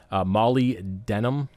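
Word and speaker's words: molybdenum: we'll talk about that here in a minute Mali denim that's how you pronounce it again is a little low and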